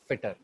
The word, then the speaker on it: FITTR: उन्होंने फिटर में से ई निकाल दिया, फिर भी जो उनकी प्रोनाउंसिएशन है वो सेम है, फिटर.